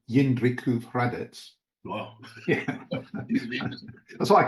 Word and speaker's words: Jindřichův Hradec: church in, hang on, I'll say it correctly, Jindřichův Hradec.